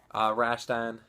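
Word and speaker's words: Rastan: Rambo, Afterburner, Where in the World is Carmen Sandiego, Rashtan, that's how you pronounce it, Dead Angle, Zaxxon 3D, Spellcaster, Govelius,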